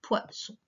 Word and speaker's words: poisson: Alors cette fois, pour faire le son S, on a besoin de deux S, puisqu'il est entre le I et le O, deux voyelles. Et si on n'en mettait qu'un, ça ferait le son Z.